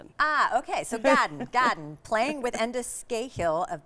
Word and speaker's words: Gadan: Um so, I'm really curious about is it Gdan? Gaden. It's pronounced garden like you were saying the word garden and you were from Boston. Ah okay. So Gaden Gaden playing with Endis Ghill of Banjo 3.